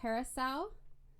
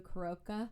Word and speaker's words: carousel: It's Blue Carousel, which for the past 2 years I've been calling Blue Caroca. Yeah. Because I didn't know that it's pronounced carousel. Oh no, it's Croca. Yeah. No, it's carousel.